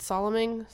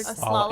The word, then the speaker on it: slalom: Like I would pretty much have to like, what's it, Soloming? Whatever. How do you say that word? Slalom.